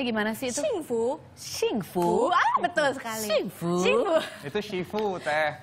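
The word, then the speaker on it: 幸福: artinya bless atau diberkati ya kalau bahasa Mandari bacanya gimana sih itu singfu shingfu betul sekali shingu Shu itu Shifu teh oh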